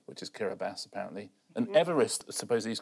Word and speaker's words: Kiribati: There's loads of countries I used to mispronounce on point. Go on. Kiribati, which is Kiribati, apparently.